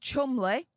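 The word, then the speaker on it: Cholmondeley: name he quipped um he pointed out that it's actually pronounced Chumley okay fair enough I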